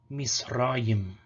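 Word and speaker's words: מצרים: There could also be a schwa between them, but for example, directly after sadi, you would get misrayim.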